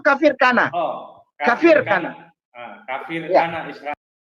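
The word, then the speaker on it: Kafr Kanna: Israel dua kafir Kana bacanya itu kafir Kana Oh kafir kafir Kana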